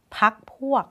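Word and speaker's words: พรรคพวก: ไหม ไม่ ได้ นะ พรรค พวก ไม่ ต้อง ออก ไม่ ต้อง ออก เสียง รอ เรือ นะ คะ พร้อม แล้ว เฉลย นะ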